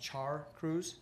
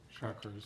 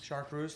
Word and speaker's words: chartreuse: The main wall sign that's going to be fabricated and installed will be replacing the existing, I believe it's pronounced Char Cruz. Chartreuse. Chartreuse, thank you.